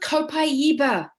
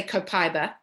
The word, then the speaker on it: copaiba: orange lavender they'd put copaiba in this some of us say copaiba the proper way to say this copaiba comes from the Amazon